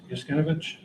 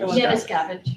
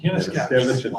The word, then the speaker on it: Yanuskavich: Yaskinovich? Yes. I'm sorry, I've got to be butchering that. What's that? How do you pronounce it? Yanuskavich. Yanuskavich.